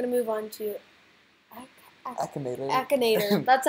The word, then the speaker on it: Akinator: Akinator.